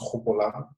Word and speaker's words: Gopolang: So my name is pronounced Gopolang with a hard, almost like a hard H.